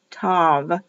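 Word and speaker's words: טוב: T O W V. Pronounced as a V, written as a V. Tov, Tov.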